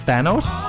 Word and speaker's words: Thanos: And the correct pronunciation of the main villain at the end of the big movie is Thanos.